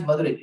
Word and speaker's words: Madurai: Oh, Madhura is Madurai. Madurai also good people. That is South Madurai, that is not Madura.